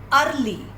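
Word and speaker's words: early: Next is अर्ली. ई इन सब words में silent है, एंड वी are starting the word with A.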